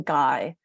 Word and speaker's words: Gui: other people about him I call him guy and I just spell it GUI because mother Gaia has